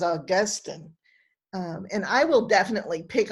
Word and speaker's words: Augustine: all called philistines and i may say augustine like the grass but the man's name was augustine and i will definitely